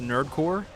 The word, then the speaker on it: Nerd Corps: I think the PS is silent in Nerd Corpse, so it's just Nerdcore.